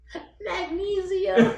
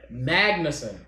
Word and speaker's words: Magnussen: Magnesium. Magnussen.